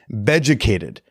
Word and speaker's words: Beducated: Beducated. It's spelled like educated, but with a B, because, it's for stuff in the bedroom.